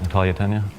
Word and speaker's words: Natalia: soon as we cast natalie uh tanya pronouncing that right natalia thank you she was so different